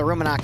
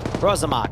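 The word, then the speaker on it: Rosomak: But now we're starting to see the Ruminok here. I'm not pronouncing that right. Rosamok, that's it.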